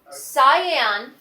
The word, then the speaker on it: cyan: cyan yellow and magenta cyan is a blue it looks kind of like turquoise but we call it cyan it's spelled cya n what are the primary